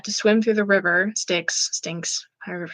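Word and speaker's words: Styx: Sticks, stinks, however you pronounce it.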